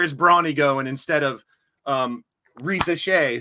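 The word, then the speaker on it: Risacher: It's turning into where is Bronny going instead of Reza Shea, who is that's how you pronounce Zachary's name.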